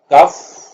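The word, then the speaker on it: cough: एंड पे उनके spelling similar होंगे लेकिन उनकी प्रोनाउंसिएशन डिफरेंट होगी। मिसाल के तौर पे हमारे पास एक वर्ड है कफ और बो।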